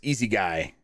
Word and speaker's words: Isekai: In Astro Zombie says it's pronounced Easy Guy. Easy Guy.